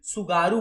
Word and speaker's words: Tsugaru: तो होकाइडो और होन्शु के बीच में TSUGARU स्पेलिंग है इसकी, सुगारू बोलते हैं, टी साइलेंट रहता है, तो सुगारू स्ट्रेट बोलते हैं होकाइडो और होन्शु के बीच में।